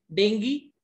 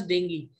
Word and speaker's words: dengue: अब अच्छा, same is the case with डेंगी. वैसे हम इसको कॉमनली डेंगू बोल देते हैं, but that is wrong. It should be pronounced as dengue.